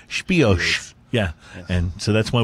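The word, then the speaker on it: Spìos: special edition number nine called spice or as the CEO as the guys from Scotland pronounce it spiash yeah and so that's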